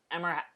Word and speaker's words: Ehrmantraut: First nominee, Jonathan Banks as Mike Ehrmantraut. That's how you say it.